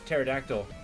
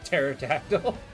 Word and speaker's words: pterodactyl: So, why can't you uh hear a pterodactyl go to the bathroom? It's cuz the P is silent.